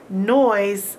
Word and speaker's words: noise: missing something in noise noise ends with an e now this isn't a magic e and we don't hear it so this e is